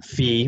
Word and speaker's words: phi: for no solution that's the greek letter phi or phi depending your pronunciation but those are the